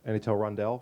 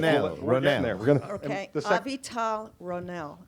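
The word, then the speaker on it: Avital Ronell: the first part is um addressed at uh any tell rondelle forgive me the pronunciation there and no I won't forgive you now that's a that is a violence I mean well exactly AAL ronell thank you so much my apologies and uh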